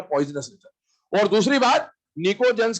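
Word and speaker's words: pnictogens: क्या बोलते हैं इसको, निकोजेंस। पी साइलेंट है, निकोजेंस बोला जाता है।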